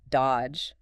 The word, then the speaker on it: dodge: The classic example given is the word dodge. D O D G E. Right. You don't say that middle D at all.